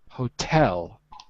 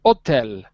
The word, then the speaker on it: hotel: ire and hotel accommodation by the way in english it's the second syllable a hotel hotel yeah in french you'd say hotel but in english you